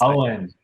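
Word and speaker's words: Eoin: This thing was pronounced by a guy whose name I've never been able to pronounce. Owen. It's Owen.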